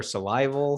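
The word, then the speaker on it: Salival: onoma in 1996 uh is it salable or survival survival survival 1999 and lateralis i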